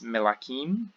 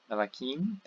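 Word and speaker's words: מְלָכִים: So melech, king, becomes melakim, melakim, kings. Nefesh, for soul or self, becomes nefashot, nefashot. So in both these you can hear the stress is now the final syllable here, and we have the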